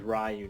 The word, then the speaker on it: Ryu: get it right because I think it's like ruh it's not really great I think today I call him Ryu and I'm sticking with it I don't give